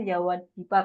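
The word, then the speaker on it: Yawadwipa: Ramayana n itu kan Ya yawadipa ya yawat pipa tulisannya Tapi bacanya yawatipa kayaknya e jadi karena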